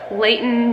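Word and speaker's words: Leighton: his name was most likely going to be Layton me and I'll write it on the screen so y'all know how it's spelled my middle name is Li le IgH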